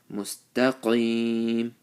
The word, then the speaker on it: مستقيم: Mustaqim, qaf with the full mouth, and ya sakin with the zer before it.